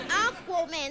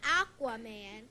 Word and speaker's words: Aquaman: It's Aquaman, not Aquaman.